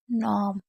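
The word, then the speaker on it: gnome: नॉम, नॉम, क्योंकि लास्ट वाले ई को हम साइलेंट रखते हैं।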